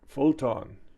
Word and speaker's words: Photon: Spell it. It's PHOTOM. Phantom. Huh. Yeah. It's a photon.